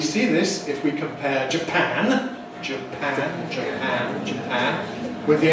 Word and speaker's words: Japan: Notice the vowels. A in Japan, where pan is stressed, but in Japanese. Japanese, where the first syllable, the Japanese stress, Japanese, and Japanese.